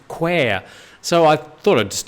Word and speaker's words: Kwai: The River Kwai is more accurately pronounced to rhyme with the word square and where, as in Quair.